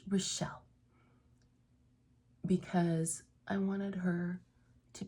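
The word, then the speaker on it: Rachel: r a c h e l but it's pronounced relle because I wanted her to be the softer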